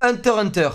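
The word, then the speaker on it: Hunter × Hunter: Alors, Hunter x Hunter, parce qu'on prononce pas le X.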